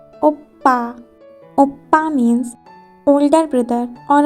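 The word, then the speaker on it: 오빠: When consonant pf doubled, it's become sang pf, and it has a pa sound. For example, oppa, oppa.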